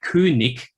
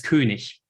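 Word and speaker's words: König: of Southern High German they pronounce it something like kunic or something like that I would also pronounce it as kunish and that sound change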